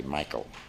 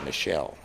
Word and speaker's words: Michel: name mich e l my mother's side of the family they say Michael good German pronunciation on my father's side the family also German they say Michele so Jensen who was